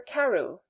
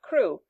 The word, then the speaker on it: Crewe: Madame Pascal pronounced it as if it were Karu instead of crew, but that might be merely a matter of pronunciation.